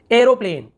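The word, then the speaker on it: aeroplane: और देखिए एरोप्लेन, arrow देख ए ई आर लिखा था, एयर पढ़ रहे हैं ना, एरोप्लेन हवाई जहाज, एरोप्लेन, इस प्रकार से ए ई का उच्चारण हो गया।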